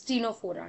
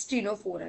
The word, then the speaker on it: Ctenophora: इसमें हमने सी को साइलेंट कर दिया, तो इट्स स्टीनोफोरा, रिमेंबर इट्स स्टीनोफोरा।